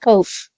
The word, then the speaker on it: Koch: I believe it's pronounced Koch.